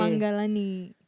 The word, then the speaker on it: Mangalani: Tapi G-nya 1 tuh kalau di bio. Iya, jadi karena itu kan bahasa Sanskrit ya, bahasa Sanskerta. Terus N-nya itu biasanya ada titik gitu di atas ya, jadi dibacanya eng. Jadi Manggalani.